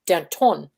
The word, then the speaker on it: Danton: see yeah she pronounces she pronounces my last name danton oh i like that that's the french yeah it's like nah